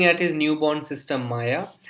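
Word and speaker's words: Maja: एंड इस word का pronunciation will not बी माजा, it will be माया, because the जे जे जो German language में है, इट is pronounced as वाई.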